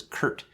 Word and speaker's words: Kert: more short story so my name is spelled weird it's ker right so people always ask me it's like that's a really weird spelling of Kurt right and so how